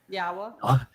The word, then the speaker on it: Yahowah: So, you know, every place that you go, we're told that the wah is pronounced as an o sound and the hey is pronounced as an a and the y is pronounced like you would pronounce it in Israel or in yashya.